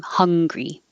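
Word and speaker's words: Hungary: Americans pronounce the name of the country and the adjective exactly the same, hungry.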